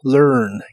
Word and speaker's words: learn: Y usarás el verbo learn, que significa aprender. La A de esta palabra no se pronuncia, y pronuncias esta palabra con tu lengua retraída hacia atrás, así que suena como monstruo. Learn.